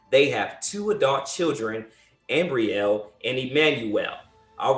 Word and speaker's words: Ambriel: jr and together they have two adult children ambriel and emmanuel all right welcome wanda welcome how